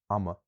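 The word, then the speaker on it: ama: So, um if we can imagine the words aum, time, and eem, butter, they have other forms, auma, which means of time, and ima, which means of butter. So, because we've added that second vowel, there's a vowel coming after what would have given us the length, and now there's no length at all.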